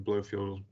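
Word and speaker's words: Blofield: blowfield road uh lingwood i've got blowfield and lingwood correct there in terms of pronunciation yes you have yes thank you let's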